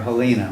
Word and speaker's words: Helena: Just like Helena or Helena, whichever you happen to be from Montana.